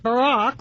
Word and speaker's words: Barack: Saddam add all this that Barak rhymes with Iraq still Obama is not going god her names should be bunt That's that Julie.